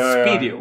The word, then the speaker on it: Spideo: I always said Spideo, but it's Spideo. Yeah, sometimes you would... How should you pronounce it? It's Spideo. Speed and video.